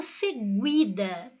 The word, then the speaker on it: seguida: Veja que eu não falo seguida, eu falo seguida. Às vezes, mas se eu deixasse só o G, eu ia falar segida. Não, você ia ler isso porque não tem o U. Mas a pronúncia aqui é de G, né?